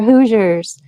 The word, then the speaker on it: Hoosier: Hoosiers. It rhymes with losers.